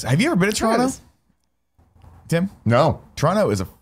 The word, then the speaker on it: Toronto: I'd say it like the natives of Toronto. They say, Toronto. Ah, Toronto.